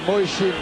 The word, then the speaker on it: Mujčin: Alors Moeshin, parce que ça se prononce bien comme ça, malgré l'orthographe de son nom, est bosniaque.